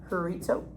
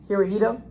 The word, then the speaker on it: Hirohito: Although Japan had an emperor, emperor Herito uh Horito Hiroito Hirohito I was saying it wrong the whole time.